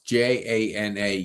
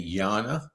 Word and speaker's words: Jana: So, you pronounce J A N A Jana.